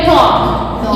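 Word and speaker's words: talk: टी ए एल के, टॉक, ये हो गया हमारा।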